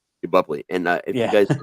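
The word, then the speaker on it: Boepple: I'm sure you can correct me on how to pronounce that. Yeah, it's Bupley. Bupley.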